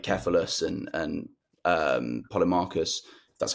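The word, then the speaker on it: Polemarchus: of other people like keus and and um poly Marcus that's how you pronounce it about what Justice is and he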